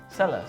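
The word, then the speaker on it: ሰሉስ: Is it Sebes or Celes? Celes. Solus. Celus. So I'm not even, you gotta correct me if I don't say it right.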